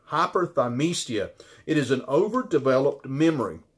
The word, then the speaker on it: hyperthymesia: you I guarantee you you've never heard of hypothermia think I'm pronouncing that right hyperthymesia it is an overdeveloped memory and only four